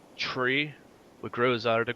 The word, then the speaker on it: three: So the 3 numbers that we say differently is 3 is said like tree, what grows out of the ground. Write this out for you. Three is said like tree.